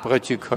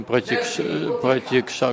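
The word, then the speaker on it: प्रतीक्षा: Вот подождать, как протикха говорят, а нужно протикша говорить. То есть вместо кша говорят кха.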